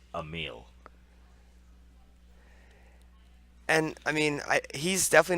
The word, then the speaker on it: Emil: email? Emil. Ear. Mill. I've So- asked him. I've talked to him and asked him how to pronounce his name, and he says Emil.